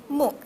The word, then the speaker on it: MOOC: so what is mock this is how you pronounce it like book Muk yeah okay so massive